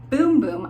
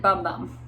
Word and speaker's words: Bum Bum: It is pronounced Boom Boom. I called it Bum Bum, but it's Boom Boom.